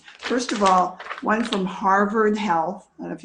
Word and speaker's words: Harvard: of all one from harvard health i don't know if you can see that i grew up in boston so i'm still very impressed with harvard which we pronounce haven't yeah i have a